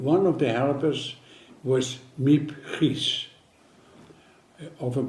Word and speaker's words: Miep Gies: And one of the helpers was Miep Gies. Often pronounced her name is Miep Gies, but it is Miep Gies.